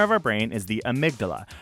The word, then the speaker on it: amygdala: The fear center of our brain is the amygdala. That is spelled Amy-G-dala.